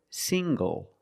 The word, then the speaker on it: single: Also this word, single. Single. The ng makes the nasal sound plus the hard g.